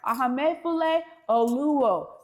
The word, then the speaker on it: Ahamefule Oluo: Ahamefule Oluo joining right after this short break to tell